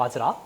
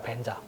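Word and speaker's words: vajra: 그래서 예를 들어서 범어에서는 금강절을 와즈라라고 하잖아요. 와즈라. 티벳에서는 이걸 벤자라고 읽어요. 벤자.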